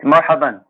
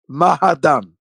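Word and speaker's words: مرحبا: It's marhaban. Welcome is Marhaban. Mahadan.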